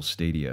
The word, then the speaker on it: Stadia: So what can you guys tell me about Google Stadia? Is that how you pronounce it?